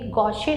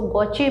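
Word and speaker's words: gauche: लेकिन ऐसी staggered form जो है ये गॉशे फॉर्म कहलाती है। इसको गॉश भी बोलते हैं, कुछ लोग इसको गॉचे भी बोलते हैं। तो जो भी आप इसका प्रोनाउंस करें, स्पेलिंग इसकी यही रहेगी, गॉश फॉर्म।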